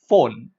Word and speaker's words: phone: The spelling is phone, but then the sound starts with the F sound.